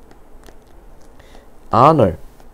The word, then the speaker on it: honor: 자, in, once, honor, h가 묵음입니다.